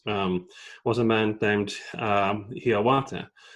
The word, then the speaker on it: Hiawatha: was a man named hiyawata which you know is pronounced generally as hiawatha and he later became